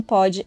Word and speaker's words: Pod: Lembre-se que o D do pod é mudo.